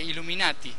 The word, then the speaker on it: Illuminati: entendido los verdaderos mensajes los iluminados en italiano se dice Illuminati que es donde nacieron